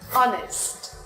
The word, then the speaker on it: honest: The letter H will be silent in some cases, such as hour, honor, honest, air, vehicle, when.